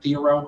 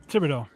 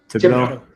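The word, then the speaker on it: Thibodeaux: How do you pronounce his name? Theoro or whatever. Thibodeau. Thibodeau.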